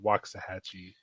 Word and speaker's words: Waxahachie: I believe that's pronounced Waxahachie.